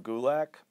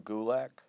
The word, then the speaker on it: Gulak: on twitter at gulick you can follow me on instagram at gulick that's pretty much it DRD WGU Lak it rhymes with attack I'm also on 205